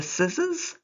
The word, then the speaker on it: scissors: Remember, the red S has a Z sound. Number 1. Did you used to use the scissors or did you use a knife?